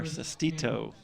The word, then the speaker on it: Sestito: I try to get it out in 2 syllables, and it just doesn't come out too easily for me. So thanks for the little hint there, Sestito.